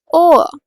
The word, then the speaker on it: Ohr: O, Ohr, ear, Ohr, when I say Ohr means R की sound इतनी ज़्यादा नहीं आ रही है, but it is pronounced as Ohr, right?